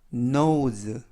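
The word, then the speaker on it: nose: 뜻은 눈 이라는 뜻입니다 알파벳 때는 느 오는 5s 는 즈 그리고 매 끝에 있는 이는 발음 하지 않습니다 그래서 너 우즈 너 우즈 라고 발음합니다 뜻은 고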